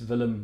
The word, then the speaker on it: Willem: and education practitioners and enthusiasts my name is vilim you can always call me as well if you promise to pronounce it with a V and not a